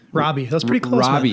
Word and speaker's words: Rabe: How do you pronounce your last name? Rabe? Rabe.